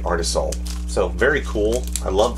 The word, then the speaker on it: Artisul: guide the limited warranty art is soul so art is soul i guess that's how you say it artisol so very cool i